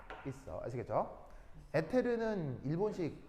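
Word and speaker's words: ether: 에테르는 일본식 발음이고요. 영어 발음으로는 이렇게 이서라고 합니다. 이서 아시겠죠?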